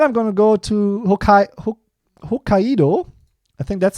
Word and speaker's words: Hokkaido: And then I'm going to go to Hokkaido. I think that's how you pronounce it.